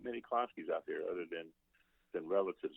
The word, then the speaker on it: Klonsky: It's Klonsky.